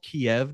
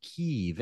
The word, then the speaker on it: Kyiv: Well, as of the war starting, we learned that it's not called Kiev now. It's called Kyiv, and it's spelled differently.